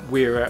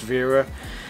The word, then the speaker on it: Wera: kind of thing uh from wearer or you know as a german company i guess it should be pronounced vera um i have a